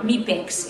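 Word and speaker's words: MIPEX: very very good scores m meex is is the right way to pronounce it we get a very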